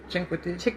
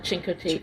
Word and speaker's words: Chincoteague: Chinquity. Yeah. Is that Oh, how you say it? that's Marguerite Henry. Yeah. That's Marguerite Henry. When Paul and I were... Misty of Chinquity. Of Chincoteague, yeah.